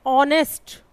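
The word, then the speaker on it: honest: हम इसे पढ़ते क्या हैं? ऑनेस्ट, ओ, ऑनेस्ट ओ अगर आप हिंदी में समझना चाहें तो स्वर में आता है ओ, ओ से औरत, ठीक है।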